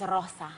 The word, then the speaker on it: Rosa: Her name is Rosa. But you have to say it like you have to really roll it long.